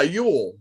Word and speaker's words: Yule: Yeah, Yule. Yeah, Yule. You know, like Fuel, Brenner, Gibbons, you know, that kind of guy, just spelled differently.